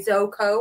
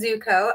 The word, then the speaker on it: Zoco: So it is Zuko. It's Zoco, which often people say Zoko or Zucco, but we do pronounce it Zuko.